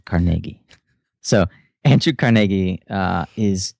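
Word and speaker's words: Carnegie: Uh Andrew Carnegi and I pronounced it the correct way, Carnegi.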